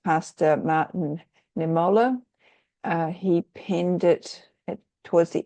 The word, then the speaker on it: Niemöller: And that is from, I think it's pronounced Pastor Martin Niemöller.